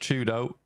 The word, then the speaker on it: Chudo: weren't aware uh for why do is pronounced Chudo so if you hear me talk about Chudo it's that guy so I know that's